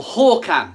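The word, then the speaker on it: Håkan: excited um you know hakan or hawkan as he likes to as his name is pronounced properly hawkhan has made this massive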